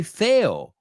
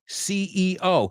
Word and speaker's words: CEO: We don't say Theo. We say CEO.